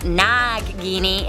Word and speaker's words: Nagini: Prad ZZZ wrote, Nagini, pronounced Nagini, is an Indian word for female serpent.